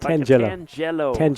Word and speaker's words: tangelo: tangelo jello you got to say it right tangelo have you ever eaten a Tang Jello I